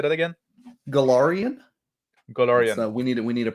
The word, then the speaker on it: Golarion: Golarion. Golarion. We need a pronunciation guide.